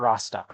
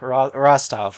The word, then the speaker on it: Rostov: Not Rostock. Rostov. I play stalker. I keep on like mixing up Rostov with Rostock, the place.